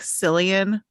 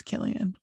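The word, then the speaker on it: Cillian: Murphy I do too it really bugs me that his name looks like selan but they pronounced as Killian I literally thought it was selian until just the second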